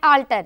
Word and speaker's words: alter: words are alter and alter oh very good two as we observing here the two words pronunciation is same but the spelling is different yes one is a